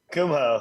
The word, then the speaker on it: Kumho: say it right how do you say it Kumho oh what did I say what I say